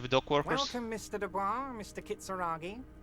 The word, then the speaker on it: Dubois: It's actually pronounced Dubois.